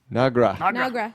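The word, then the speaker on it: Noggra: from the same okay your name is nagra pronounce that n o g g r a nagra is is Kling on you saiding on so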